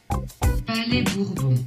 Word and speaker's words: Palais Bourbon: Alright, so I was looking up how you pronounce the French Parliament place, and in French on Google Translate, it sounds like Palais Bourbon.